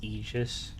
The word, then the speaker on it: Aegis: I think it is Aegis. I've always said Aegis, so I'll probably keep saying Aegis.